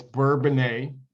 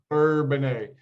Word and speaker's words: Bourbonnais: It's Bourbonnais, Illinois. Okay, all right. I know I So stumble, I stutter. I'm not very good at know, some of those, but Bourbonnais. Bourbonnais, Illinois.